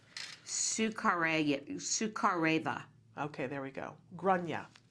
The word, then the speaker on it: Sukhareva: How did you pronounce her name? Sukhareva.